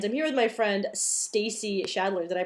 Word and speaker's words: Stacey Schaedler: you today and I'm here with my friend Stacy shadler did I pronounce that right yes perfect and Stacy is